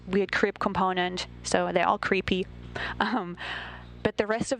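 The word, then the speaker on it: KREEP: they have a weird component that we call creep, and it's spelled K R E P and stand for potassium, rare earth elements, and phosphor.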